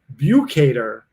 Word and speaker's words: Bukater: look at this everybody's jumping in and it's pronounced view cater thank you this fictional character that too many